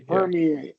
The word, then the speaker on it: permeate: And even if you add ed, ing, any of those, that doesn't change. Yeah. It doesn't change until you add tion, right? Just like graduate, first syllable, graduation, right? Graduated, graduating, and that's when it changes.